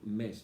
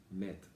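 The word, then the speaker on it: Metz: El autor es un jesuita que se llama John Mett. Te lo recomiendo, si lo puedes encontrar en internet. Se escribe el apellido M-E-B-T-Z. John Mett.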